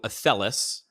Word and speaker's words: Athelas: So Athelas, I'm probably going to say it wrong because... No, that's right. All right, I got it. That's perfect. Most people say it wrong, yeah.